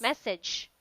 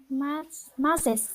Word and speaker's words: massage: so how do you pronounce this one? Mrs. Message. Letter G. Yes. Message. Yeah. And how about that one? Massage.